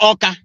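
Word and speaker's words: Awka: today is called aqua is called oka The capital of anra oka that oa is spelled a w k a it's true that's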